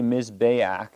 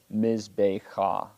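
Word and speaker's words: מזבח: Why did I say Mizbeach instead of Mizbecha? Because that's how it's pronounced.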